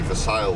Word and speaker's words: Versailles: 7 miles west of Versailles, as I would call it. And the locals spell it literally, pronounce it literally Versailles.